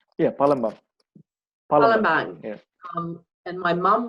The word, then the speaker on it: Palembang: took a contract work in, I think you pronounce it Palembang? Yeah, Palembang.